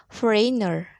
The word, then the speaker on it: foreigner: Note, the letter G is silent in some words, e.g., foreigner, sign, hike, bulk.